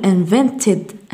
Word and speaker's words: invented: في الإي دي لدينا تي and دي نقول invented invented وليس invented لا نحذف الإي هنا نقول invented added added.